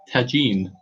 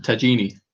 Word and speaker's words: tagine: But somehow they got switched into and Kath said it's pronounced tagine. Oh. Tagine. Instead Tagine. of tagini.